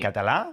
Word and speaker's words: Català: In Catalonia, we pronounce it Català. With the A, Català, without the N.